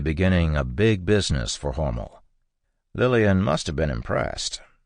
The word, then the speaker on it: Hormel: Horml. Homel being spelled H O R M- E-L like the company name, but pronounced to rhyme with normal in the Lichfield building on Mil Street in November 1891.